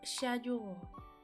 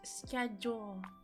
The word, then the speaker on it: schedule: The British pronunciation is schedule. The American is schedule.